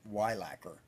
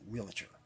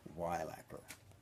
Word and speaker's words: Weilacker: They don't want to say, for instance, for me, it's Weilacker. I might not like it if someone called me in as a wheelchair. I might want to hear Weilacker.